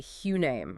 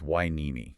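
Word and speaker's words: Hueneme: My brain wants to say hamm or maybe huim. You'd think so. It looks phonetic, but it's a trap. And you would be wrong on both counts. The guide is very explicit. It's wine.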